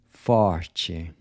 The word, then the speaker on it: forte: forte. How would you say “north”? Norte. “Art”? Arte. Part? Parte. Night? Noite. So the “t-e” is pronounced like the “c-h” in chip.